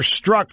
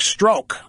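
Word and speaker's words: Strzok: struck by the way I've heard both pronunciations that's why I'm using both names Peter Peter struck or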